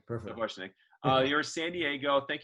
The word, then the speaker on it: Sapochnick: Is that the proper way to pronounce it? Yeah, Sapochnick. Perfect. Sapochnick.